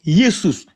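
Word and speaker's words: Ἰησοῦς: s o u s qui se prononce yesous là c'est la translitération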